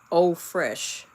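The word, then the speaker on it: eau fraîche: Eau Fraiche f r a i c h e. That's French. It's pronounced eau fraiche.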